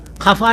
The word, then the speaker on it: خفا: لذت ہے تو لجت بول رہے ہیں، عزت ہے تو عزت بول رہے ہیں، خفا ہے تو کپا بول رہے ہیں.